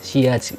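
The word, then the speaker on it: sillage: adalah silet-silet projection dan Tapi sebenarnya saya ini dibacanya syiar Dia berasal dari bahasa Perancis Jadi kalau kalian teman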